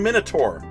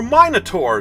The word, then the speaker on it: Minotaur: Next we have number 28, an uncommon MINOTAUR, or MINOTAUR, depending on where you live.